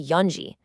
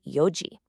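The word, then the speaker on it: 四時: For 4 o'clock, you actually do not say yonji. You drop the N completely and just say yoji.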